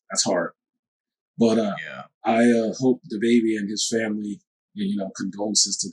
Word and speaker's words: DaBaby: Yeah, DaBaby. That's how you pronounce it.